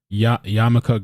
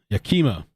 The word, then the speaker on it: Yakima: is also called green yamaka greenway sorry yamaka i can't even pronounce this uh yakima yakima okay thank you dick's correct me yakima so this is akima